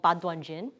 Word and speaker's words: 八段錦: chiong practice set called badan Jin that's the Chinese pronunciation in Korean is pronounced